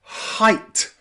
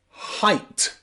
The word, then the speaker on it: height: letters e and i in words like height where it's pronounced I I height height okay think of